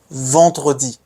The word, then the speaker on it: vendredi: Vendredi. Again nasal. Vendredi.